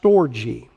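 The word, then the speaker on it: στοργή: when i explain it and the greek is pronounced storji storji means familia some of you may know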